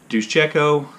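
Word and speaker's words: Duszejko: The main character of the novel, an older woman named Eugenia Duszczyko, that's how I'm pronouncing her name.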